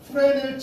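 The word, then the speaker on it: Fresnel: 자, 반사의 세기 인텐서티는 프레넬 지수에 의해서 결정이 돼요. 프레넬은 프랑스 물리학자인가 그래요. 뭐 제가 예전에 좀 영어 못 배웠을 때는 프레즈넬이라고 읽었었는데 S는 사람 이름이라고 묵음이라고 해요.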